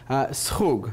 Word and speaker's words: schug: Schug.